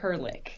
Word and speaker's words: Herlich: Well, the way you pronounce it was closer to like the actual German pronunciation. Yes. But we go by Herlich.